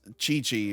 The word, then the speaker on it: Cicci: Well, there's like Cici pronounced Chichi, who's a different character, Yep, but I think he's he is Ciccio.